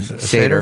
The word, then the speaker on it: Seder: If you attend a ceder, a ceder, How do you spell it? S-E-D-E-R. Seder?